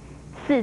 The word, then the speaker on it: 兕: 四字因为不常见，有人不在意把它念成兜，其实这是两个完全不同的字。